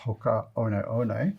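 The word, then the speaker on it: Hoka One One: I believe they are pronounced Hoka One from New Zealand.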